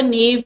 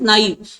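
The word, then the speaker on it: naive: Very cunning और अ नेव person. Either और, या तो वो बहुत चालाक है या फिर नाइव बोलते हैं इसे। इसका एक्चुअल प्रोनाउंसिएशन, इंडियंस तो इसे नेव बोलते हैं, इसका एक्चुअल प्रोनाउंसिएशन इज नाइव।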